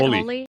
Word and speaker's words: Holi: And I know Holy Like Holi. Is that how you pronounce it? Holy.